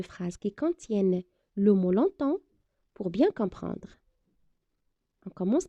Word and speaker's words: longtemps: des exemples de phrases qui contiennent le mot longtemps pour bien comprendre on commence par la première